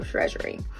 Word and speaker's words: Chresury: and it is pronounced she said it's pronounced like treasury so treasury all right so this